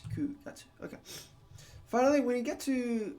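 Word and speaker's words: 九月: However, you need to pay attention to April and July and September, which are pronounced shigatsu. Shigatsu, shichikatsu, and gatsu. Okay, so we're using the other reading for shi and chichi for 4 and 7. And then instead of Q, it becomes Ku gatsu.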